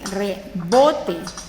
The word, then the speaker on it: rebote: Rebote. Tiene la mayor fuerza de voz en bo.